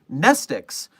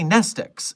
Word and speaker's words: Mnestics: Just for your information as a Foundation researcher, remember that Nestix starts with a silent M. It's literally the word amnestics without the A. Just a weird fun fact. So even though we say Nestix, it is Nestix.